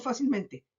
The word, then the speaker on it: fácilmente: Lo mismo con fácilmente. Fácilmente. 4 sílabas. Fácilmente. Última, penúltima, antepenúltima, antepenúltima. Cuarta sílaba. Sobredrújula.